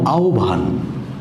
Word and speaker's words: আহ্বান: সর্বপ্রথম যে বিষয়টি জরুরি এই আহবান শব্দটি কিভাবে উচ্চারিত হয় সেটা আমাদের জানা দরকার। এখানে বানানটা হচ্ছে এরকম এর উচ্চারণটা হবে এরকম। অর্থাৎ আবান এই উচ্চারণটা খুবই জরুরি।